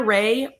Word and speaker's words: Rahe: And that's why it's hard for me to always give Ray because it doesn't sound like it's spelled. It's a n a rahee r a h e pronounced ray of GST is our Instagram and GST body.